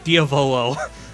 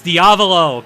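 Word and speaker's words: Diavolo: always bother me is they call him diolo I'm like oh my God it's like that's it's diavo godamn it um yeah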